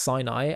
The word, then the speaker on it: Sinai: Hebrew is Sina and the word for Mount Si is is pronounced Sinai and the words Sinai